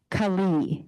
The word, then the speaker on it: Kaohly: Kaohly. Kaohly? Yeah, it's like Colleen, but E at the end. So don't look at the spelling, it'll throw you off every time.